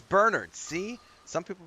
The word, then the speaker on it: Bernard: It's Bernard. See, some people pronounce it Bernard.